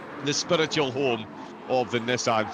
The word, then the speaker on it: Nissan: to pick you up on one of the pronunciations you didn't quite get correct earlier on Sean it's Nissan gen now you've got to see it very